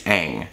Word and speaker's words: Aang: this super powerful multi-element controlling kid on it's Aang um I'm saying hey I'm hearing on how